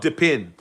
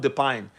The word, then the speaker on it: DePIN: That it's not Depine. Do you remember? Actually, Rich. You said it. I was like, Olga, it's not, it's not Depine. Oh, it's Depin.